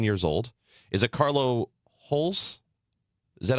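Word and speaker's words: Holse: So the pronunciated guide on City has Holza, almost like an at the end, but I've also heard Holze, and I don't think that doesn't sound very Danish to me.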